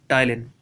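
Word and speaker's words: टायलिन: टाइलिन। टाइलिन। P silent रहता है, टाइलिन पाया जाता है।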